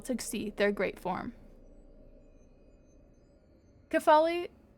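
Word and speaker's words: Kephale: Kafali Kafali Kefale got to not pronounce it phonically.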